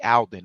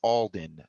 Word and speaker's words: Alden: I was correcting them they was like Alvin I was like no it's Alden not Alden uh it's spelled and